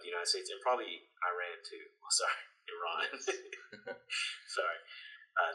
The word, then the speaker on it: Iran: before, how Iran has, sorry, Iran, that's how a lot of Americans say Iran, they say Iran.